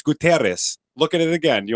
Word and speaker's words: Guterres: No, it's not Gutierrez. There's not an I in there. It's Guterres.